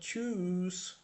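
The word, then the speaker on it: Tschüss: চুজ, উ ইউ umlaut-এর জন্য বা উ umlaut-এর জন্য চুজ লম্বা করে উচ্চারণ হবে।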